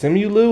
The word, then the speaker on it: Simu: pronounce this dude um some people pronounce it Simon L but I think it's simu or something like that he is actually